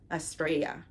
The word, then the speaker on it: Estrella: It's funny because her name kind of sounds like Estrella in Spanish. And I think that's like the way it's pronounced in a sense, like Estrella.